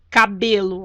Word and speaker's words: cabelo: Cabelo, ó. Cabelo. Ou seja, a sílaba tônica estaria no B, mas ela não é acentuada.